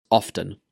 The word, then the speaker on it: often: Often, often. I pronounce this word with the T sound, often, but both are acceptable.